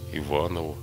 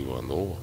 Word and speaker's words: Иванову: Как преподаватель имел большое влияние на успехи русской живописи, дав образование многим замечательным художникам, в том числе Иванову или Иванову, по-разному произносят фамилию, Шибуеву, Егорову, Кипренскому и другим.